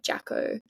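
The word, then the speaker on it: Jacó: And I was going on a bus to Jaco, which is, it's spelled like Jaco, like Jacko.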